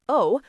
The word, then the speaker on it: を: The particle wo, pronounced o, marks the object of the verb.